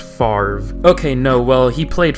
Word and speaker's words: Favre: ol brett favre but for some reason it's pronounced farve okay no well he